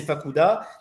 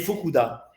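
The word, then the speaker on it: Fukuda: de le montrer fokoua c'est avec c'est avec un U bon moi j'ai prononcé fakuda mais c'est fukoua d'accord c'est u u d'accord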